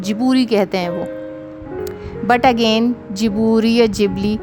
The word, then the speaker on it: Ghibli: In English pronunciation, even Japanese people are saying Ghibli. But if you listen to the pronunciation of the founder of Ghibli studio, Miyazaki, then it is called Jiburi.